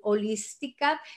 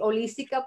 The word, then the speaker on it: holística: le dice en salud holística. Sabes que siempre me cuesta trabajo decir holística porque la leo como en inglés, holistic, entonces sé que Ajá. la H muda, no se dice holística.